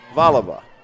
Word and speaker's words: Valiva: I verified it outside what did I say it was like Val it's valiva yep valiva we apologize to the valiva